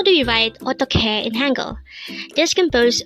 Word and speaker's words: 어떡해: EOTTEOKHAE. EOTTEOKHAE. This is pronounced as a 3-syllable word. The first syllable is O, second syllable is tok, and third syllable is he. Pronounce it with me. EOTTEOKHAE.